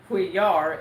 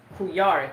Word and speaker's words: Couillard: Alex isn't pronounced Couillard. It's Couillard. Couillard. His name is Spanish. Couillard. Okay. It's 2 L's.